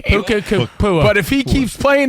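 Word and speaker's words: Nacua: Puka Kapua.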